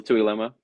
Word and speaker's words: Tuiloma: Because with Bill Tuiloma. Yeah. Yes, way to pronunciate it.